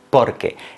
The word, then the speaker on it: porque: también en la pronunciación aquí decimos porque es decir que la sílaba que va acentuada es la primera y no la segunda por qué por qué